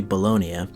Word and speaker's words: Bologna: I know it's spelled Bologna, but it's actually Bologna.